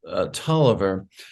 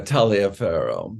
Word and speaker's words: Taliaferro: actually in the United States it's pronounced Taliaferro, but when I'm in Europe or elsewhere in the world, I often go by Taliaferro, the way it's spelled.